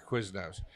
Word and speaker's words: Quiznos: it's really smart yeah the first syllable rhymes with jizz those quiznos like frankie's called quiznos